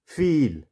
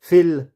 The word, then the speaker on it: feel: तो जैसे SEEK सीख, MEET मीट, HEEL हील, और FEEL फील। इसको हम फिल नहीं बोलेंगे, इसको हम बोलेंगे फील। यहाँ पे ई की जो साउंड है वो कैसी आ रही है, थोड़ी लंबी साउंड आ रही है।